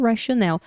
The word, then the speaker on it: rationale: E assim como, né, eu comentei já isso, né, que rational, rationale. Rational, a pronúncia é mais forte no começo da palavra, rational. E rationale é no final da palavra.